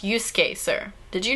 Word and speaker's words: Yusuke: That's pronounced Yusuke, sir.